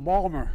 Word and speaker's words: Baltimore: folks I say to my dad dad they're mispronouncing Balmer my dad and the Biden please sit down